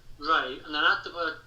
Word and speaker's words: Rea: The easiest way to find me is my name and then the surname which is spelled R E A like Ronald Reagan for example. Rea. So my name Ray and then add the word parrot and do a free word search.